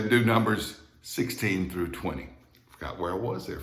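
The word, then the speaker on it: veinte: in boy, even though it's spelled with a V. Anytime you see a word in Spanish spelled with a V at the beginning of the word, you pronounce that V just as you would the letter B in English words like boy or boat or bubble.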